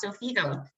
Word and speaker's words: Xofigo: So, just as I stated, um we're going to be speaking about Zofigo this evening, and that's how it's per pronounced.